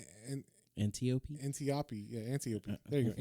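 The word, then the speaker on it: Antiope: anop antiopi antiopi yeah antiopi there you go antiopi antiopi sorry Greek Greek the way you got to do the Greek pronunciation yes yes so antiopi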